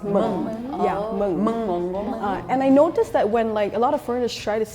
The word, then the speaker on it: mengonggong: In Indonesia, we pronounce it mengonggong.